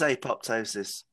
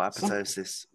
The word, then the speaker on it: apoptosis: you okay enjoy bye well it is apoptosis or apoptosis both pronunciations are used by different um researchers in the field there's a group at